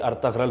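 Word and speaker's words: Ertuğrul: हालांकि ये अर्तुरुल Turkish ज़बान के अंदर है। उर्दू ज़बान में अगर जब हम इसको प्रोनाउंस करेंगे तो ये अर्तगरल बनेगा, क्योंकि हमारे पास उर्दू में तमाम लफ्ज़ों की जो वो साउंड है, तो हम इसको अर्तगरल पढ़ेंगे और पूरा है अर्तगरल चौधरी।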